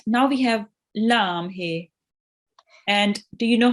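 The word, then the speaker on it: لَ: And a kaf with the fatha is pronounced Ka. Ka. Well done. Ka. Right. Now we have lam here.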